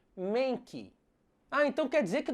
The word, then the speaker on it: Mankey: macaco porco bem Travesso chamado mankey Pois é assim como se escreve Monkey só que hoje em dia a pronúncia correta dele é Menck Ah então quer dizer